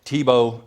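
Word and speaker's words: Tiebout: that's in there and uh local governments as TBO competitors so you all most of you are probably wondering how to pronounce that name it's TBO like the football player and I had to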